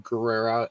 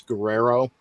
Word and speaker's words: Guerrera: yet without siobhani uh pronouncing juventud guerrera as guerrero just gonna throw that